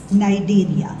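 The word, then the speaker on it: Cnidaria: हमारे पास सिलें पटस नाइजेरिया सी साइलेंट है नाइजेरिया में नाइजेरिया वर्ड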